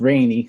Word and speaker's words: Rene: My name's spelled Renee, and it's pronounced rainy, so rainy like the weather.